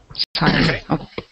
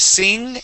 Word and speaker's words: sign: belt sign oh okay sign instead of sing it is sign very it's very similar